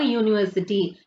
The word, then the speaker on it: university: U. U means the starting letter is U means vowel letter. Okay. But it is giving the consonant sound. U. Y-O-U. U. So we are using a before the university.